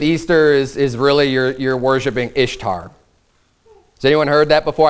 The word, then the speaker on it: Ishtar: is because it's spelled I-S-H-T-A-R. So in our common way that we would pronounce English words, it would say Ishtar.